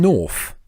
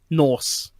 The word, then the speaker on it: Norse: Are you saying North? Norse. It sounds like you're saying like, North, as in North. No, I was pronouncing it North as in North. Oh, but no, okay, Norse, sorry. Norse, like Vikings.